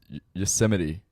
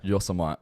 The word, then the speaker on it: Yosemite: Yosemite, people say. Yosemite. Yeah. So that's a national park in America. Yeah. So that's the 3rd most mispronounced. I think of it like Yosemite Sam from the Looney Tunes.